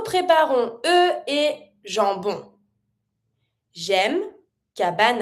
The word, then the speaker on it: cabane: So you're always going to avoid the E. You never say cabane, you say cabane, and you have the A.